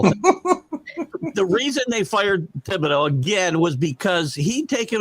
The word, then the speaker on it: Thibodeau: I always want to not pronounce the H. It is Thibodeau, Thibs. So sounds like it's like a lisp or something.